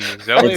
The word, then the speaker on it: Zoe: Zoe or I love you so much. It's just like that. Zo. Oh, Zo. It's pronounced Zo. Zo and Zo.